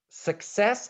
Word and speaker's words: success: saying success two syllables where is the stress on success the first or the second syllable second good hero is saying success absolutely right so it's success and how about in